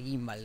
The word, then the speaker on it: gimbal: Es la primera vez que escucho la G en gimbal. Hay gente que pronuncia cada palabra rara, boludo. Se dice gimbal, lo compré.